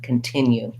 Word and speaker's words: continue: sounds more like ca so often you're going to also see that we have the unstressed khan continue the other complicated thing